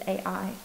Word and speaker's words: Ai: I think it's pronounced like it. It's just A-I. Ai.